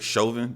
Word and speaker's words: Chauvin: Is that Derek Chauvin? That's how you pronounce his name?